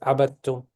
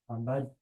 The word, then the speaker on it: عبدتم: Yes, the dal, you skip the dal. Why? Because it is empty and it's followed by a shadda letter.